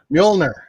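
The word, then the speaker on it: Mjölnir: got one more chance you do this right mjolnir there you go okay all right please dare me to pronounce that again trump came in clutch for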